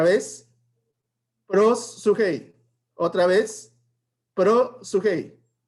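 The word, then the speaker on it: προσευχή: significa oración cómo se pronuncia esta palabra se pronuncia pero su hey otra vez pero hey otra vez pero sugey y qué significa la palabra oración y que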